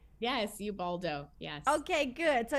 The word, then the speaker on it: Ubaldo: I pronounce that correctly? Yes, Ubaldo.